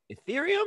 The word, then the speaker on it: Ethereum: uh what's it called i can't say atrium ethereum cerium ethereum is how you say it theory i think it's